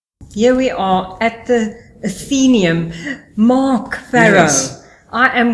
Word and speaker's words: Athenaeum: What do the Greeks say? It's Athenaeum. Athenaeum. Athenaeum. You know, Athenaeum. So it's that neum, don't even try and spell it. It's actually Athenaeum.